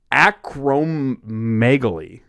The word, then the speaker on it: acromegaly: man or whatever um is it gigantism it's acromegaly or it's a c-r-o-m-e-g-a-l-y okay I'm gonna look